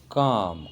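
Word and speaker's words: calm: अगला है बच्चों काम। काम मतलब शांत। यहाँ भी एल की साउंड नहीं आ रही है, तो एल यहाँ पर साइलेंट है।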